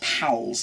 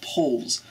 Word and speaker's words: Powles: read it Powles, P-O-W-L-E-S, and they think it's Powles. It's not Powles, it's pronounced Poles.